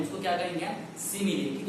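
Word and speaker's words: simile: सो हमें मालूम होना चाहिए फर्स्ट ऑफ ऑल, देखिए उसका प्रोनाउंसिएशन क्या है, सिमिली, नॉट स्माइल।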